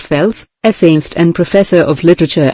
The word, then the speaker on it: Phelps: The genial William Lion Phelps, pronounced Fels, essaist and professor of literature at Yale, learned this lesson early in life.